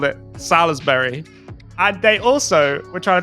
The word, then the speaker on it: Salisbury: Is it Salisbury? Apparently, it's Salisbury. Oh my God. I was getting roasted by my mates on this because we called it Salisbury.